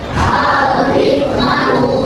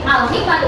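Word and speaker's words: الحكمةُ: Yang ketiga, Al-Hikmatu. oke, Al-Hikmatu, alifnya juga dibaca jelas.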